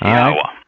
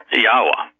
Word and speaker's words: Yahweh: It's Yahweh. Yahweh. God's name. Yahweh. It's not Yahweh. Yahweh. No. Yahweh. Yes, all right. You want to try and spell that in English? Yeah, the Y in Hebrew is pronounced like the Y in English, like the Y in yes. Yeah.